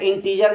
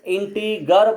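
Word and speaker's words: integer: जैसे मैं इंटीजर में बताया था, बहुत सारे स्टूडेंट्स इंटीगर बोलते थे, ग प्रोनाउंस करते थे, लेकिन मैंने समझाया कि ग नहीं होगा, इंटीजर होगा, इंटीजर।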